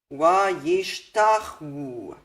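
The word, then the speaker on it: וַיִּשְׁתַּחֲווּ: How do you pronounce this? Wa-yish-tach-wu. That wu makes its own vowel if there's no vowel before it and no vowel on it.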